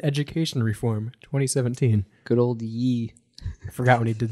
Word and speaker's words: Ye: reform 2017 good old ye I forgot when he did that is it pronounced y or is it yay Kanye I think it's yay but